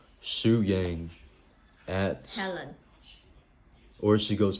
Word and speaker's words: Shu Yang: And Shu So it'd be Shu Yang. So Shu Yang. how would you spell that?